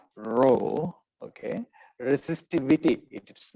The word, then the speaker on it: rho: is a greek letter it is spelled rho and pronounced row okay resistivity it is